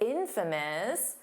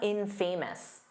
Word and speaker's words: infamous: Notice that pronunciation because it's infamous. The syllable stress is on the in. So it's not infamous. No, that's not how you say it. Infamous. Infamous.